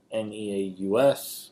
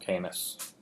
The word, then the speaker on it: Caeneus: So, one, that Canis, that's how I pronounce it. I've never heard it said. Like a lot of things, I've just read it. It's Caeneus. I'm sorry, Caeneus. Alright? Call him Canis. It's probably the wrong pronunciation. My apology to the Greeks.